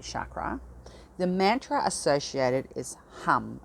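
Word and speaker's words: Ham: to the throat chakra the mantra associated is hum it's prone it's spelled h-a-m but it's pronounced harm and it if you chant it i recommend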